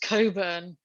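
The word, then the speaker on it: Cockburn: that she did and her boss's name was mr coburn which for the american viewers is spelled c-o-c-k-b-u-r-n and it did once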